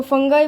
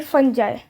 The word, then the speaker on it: fungi: फंजाई बोलते हैं कभी इसको फंगाई बोलते हैं, कभी इसको फंगी बोलते हैं. कोई ये इसके अलग अलग नाम है. इसकी करेक्ट प्रोनाउंसिएशन तो फंगी है या फिर फंजाई. They have a different mode of nutrition.